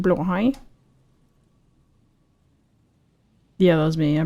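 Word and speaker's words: Blåhaj: Yeah, just say blahage. Blahage? Actually, it's pronounced blahai.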